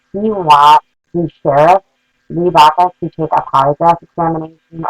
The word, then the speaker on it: Baca: However, I did bring up the Los Angeles County Sheriff, Lee Baca. I believe that's how you pronounce it. It's C-A-C-A, and I'm going with Baca.